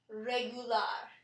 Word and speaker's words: regular: word regular in English in English the U is stressed regular however in Spanish it is pronounced regular and we stress the AR at the end another example that has